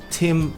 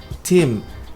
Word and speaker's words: Tim: Se for o nome, Tim.